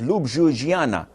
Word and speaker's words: Ljubljana: read it it was Ljubljana and I was wondering how where did the J go so in some countries that J is pronounced as I so Jesus is Isis